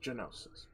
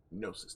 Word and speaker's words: gnosis: known as a gnosis oh gnosis i thought it was genosis but gnosis the g is silent uh yeah what about